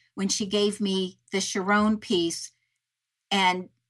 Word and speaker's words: Sharón: And in that wedding, the woman's name was Sharon, but pronounced Sharón. And so she called me and she said, I went to this wedding and they pronounced this name Sharón.